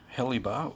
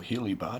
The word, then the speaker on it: HeliBar: to be doing a heli bar or he'll you bar depending on how you want to pronounce it extension on the 2017